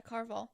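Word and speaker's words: Caraval: Yeah, Carval.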